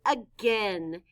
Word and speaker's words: again: It stands for the sound In this word, the letters A, I stand for the short E sound, eh.